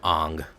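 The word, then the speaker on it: Aang: That's believe that's how it's pronounced, right? It's pronounced an ang.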